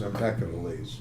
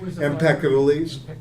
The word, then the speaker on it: Empedocles: up with one of Freud's favorite pre-Socratic thinkers, Empedocles. Love and strife are at the bottom of everything. Eros and aggression. Kind of interesting, Freud's relationship to the pre-Socratics. Very little's been written about this. There's some. Empedocles.